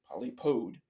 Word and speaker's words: polypod: Polypod referring to the grouping that it's in, and polypode, in this case, is how it's pronounced, meaning that it looks like it has feet.